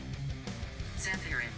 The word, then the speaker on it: Zephyrim: Zephyrim. Apparently that's how you say it.